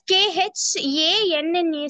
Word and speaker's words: Khanna: No, sir. It is pronouncing as Khanna, sir.